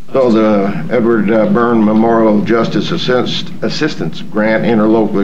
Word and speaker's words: Byrne: sign the 2018 Edward Byrne, I guess that's pronounced Byrne or? Yeah, it's a Byrne.